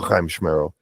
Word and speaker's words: Chiamschmerril: If you bring up a loogie when you say it, you're doing it right. If you got to wipe down somebody else's hat, just said it right.